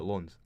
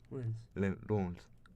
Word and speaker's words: Lens: Do you say Lens or Lons? Lens. Racing Club de Lens. Lens. We're Scottish, mate. No fucking French.